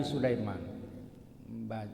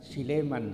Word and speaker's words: Sulaiman: kaya sulaimana pada nabi Sulaiman bacanya Sulaiman bukan Siman ya IBN dauda bin Daud orang Medan kalau manggil Sulaiman Siman alaihalam seperti berfirman Allah